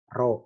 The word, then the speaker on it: rho: Nah, itu namanya koefisien korelasi, rho bacanya.